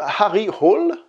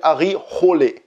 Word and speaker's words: Harry Hole: Le personnage de ce film s'appelle Monsieur Harry Hall. Alors même si je me suis renseigné, j'ai entendu dire qu'en norvégien ça se prononçait Harry Hole, ou un truc dans le genre.